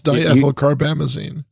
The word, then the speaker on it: diethylcarbamazine: So are you're going to make me pronounce that? Isn't that your thing? It is, actually. It's diethylcarbamazine.